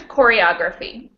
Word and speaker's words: choreography: go back to choreography we decided that it has five syllables and it ends in phy which means that it follows rule number four right those are stressed on the third from the last syllable so what does it